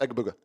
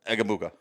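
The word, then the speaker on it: Egbuka: Just say it real fast. Egabuka. Egabuka.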